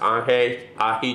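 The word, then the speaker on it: ají: small pepper a Chile which in Peru are pronounced Ahi chilies right and then I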